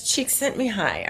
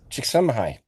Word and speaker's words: Csikszentmihalyi: I've only heard it as Csikszentmihalyi. Are you gonna? What? How did he say it? Csikszentmihalyi.